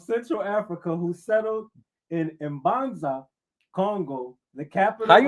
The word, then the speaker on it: Mbanza Congo: The Ishikongo of Central Africa who settled in Mbanza Congo, the capital How you knew How you knew to pronounce the M like that? Go ahead, brother. I I see I see you, brother. Mbanza Congo the capital of Kingdom